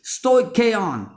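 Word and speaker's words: stoicheion: It comes from the Greek word, I'm going to pronounce it like this, stoicheon.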